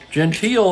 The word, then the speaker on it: Gentile: I know how to say his name properly Gentile 0 for two today struck out in the